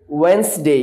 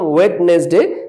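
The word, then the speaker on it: Wednesday: will be টিউজডে টিউজডে ওয়েনসডে এটাকে আমরা বলতাম ওয়েডনেসডে বাট it will be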